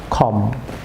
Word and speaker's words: comb: যেমন এটি COMB, এখানে বি এর প্রনাউন্স হবে না, খম।